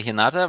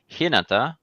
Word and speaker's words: Hinata: get about the pronunciation i would say hinata but it's apparently hinata i think yeah so